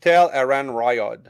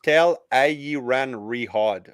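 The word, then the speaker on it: Tel'aran'rhiod: the stream all right so tell iran riot but it's pronounced tell ie ran rehard holy yeah yeah i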